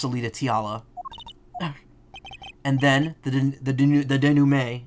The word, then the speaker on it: denouement: And then, the denouement, as we learned in the first trial, that's how it's pronounced. Denouement. Wesley Stickler, of panty-snatching fame, walks up. Seeing the two men, he shouts. In that instant... denouement. Oh. Whatever, I got the silent T, it's fine.